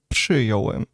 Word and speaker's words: przyjąłem: It should be przyjąłem because there is RZ is pronounced as ż. But after P, it would be very hard to say. Przyjąłem. So it's actually correct to say it in the simplified form, which is przyjąłem.